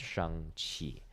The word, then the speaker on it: Shang-Chi: so it's yeah c-h-a-n-g c-h-i and then it's pronounced shang-chi right but there's a whole scene in that